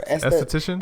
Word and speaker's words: esthetician: Is it beautician or esthetician?